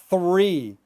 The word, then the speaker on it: three: So three, three, three, and then free, free.